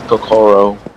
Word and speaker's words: Kokoro: Well, you always emphasize the second syllable. I often don't do it because I was not raised Japanese, but the correct stress is to emphasize the second syllable of every word.